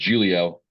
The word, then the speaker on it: Giglio: coach Giggs yep but my last name is Julio those two things don't really make a lot of sense uh and so when you have a silent G in your last name you just get used